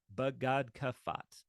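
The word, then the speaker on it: begadkefat: C pay and Tav badat uh would be how you would pronounce them all together but these are the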